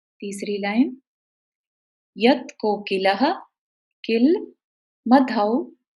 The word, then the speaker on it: मधौ: तीसरी लाइन, यत् कोकिलः किल मधौ, औ की इसमें साउंड आएगी, मधौ मधुरम विरौति।